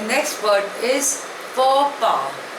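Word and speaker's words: faux pas: the next word is फ पा spelling is एफ ए यू एक्स पी ए S pronunciation is फो पा इट इज अ French word it means अ social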